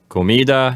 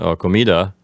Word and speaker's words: comida: lot to talk about the word comida has the accent on the middle syllable and it's feminine besides